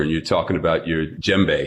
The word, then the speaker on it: djembe: And you're talking about your djembe. Is that how it's pronounced? The drum? Yeah, you got it exactly right. That's it. Right, djembe.